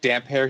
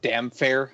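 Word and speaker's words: Damphair: Also, I do find it funny, like if you listen to the audiobook, how Roy Dotrice pronounces like damp hair. He calls him like damn fair half the time.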